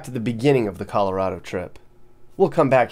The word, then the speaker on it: Colorado: I get too far there's a debate on how to say the state's name newcomers call it Colorado locals call it Colorado well the governor here created a stir when he took a stance he said it's Colorado well I'm not saying